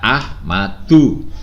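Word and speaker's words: أحمدُ: Ahmad tidak Ahmad dunia ini bacanya ahmadu Mengapa karena ini termasuk Isim ghoiru munshorif dari what pelajarannya Allah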